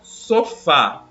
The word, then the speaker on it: sofá: A palavra sofá. Vamos analisar essa palavra. Mas é uma palavra oxítona, né? Tem apenas duas sílabas, a sílaba tônica é a última.